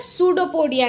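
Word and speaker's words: pseudopodia: यहाँ पे सूडोपोडिया में पी साइलेंट होता है तो इसलिए हम इसे सूडोपोडिया कहते हैं।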